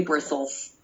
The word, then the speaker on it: bristles: It's irregular. We say bristles.